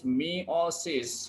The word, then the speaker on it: meiosis: How it is pronounced? It is meiosis.